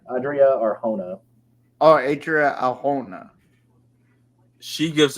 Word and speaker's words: Adria Arjona: Adriana Ajona? Is that how you say her name? Adria Arjona.